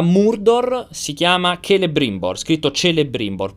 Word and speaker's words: Celebrimbor: si chiama celebrimbor scritto celebrimbor però in elfico non si legge il C ma si legge il che Ah esatto poi vedete